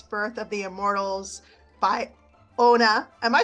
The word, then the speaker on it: Onna: please check out her book, Iris, Birth of the Immortals by Onna. Am I saying it right? You're Anna? not. Anna, like Frozen, like Frozen.